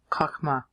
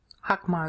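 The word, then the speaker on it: חכמה: and the O's okay kma I put a little English on the H so it sounds like a KH K okay I'm Translating that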